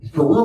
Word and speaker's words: Carew: Carew rhymes with Jew.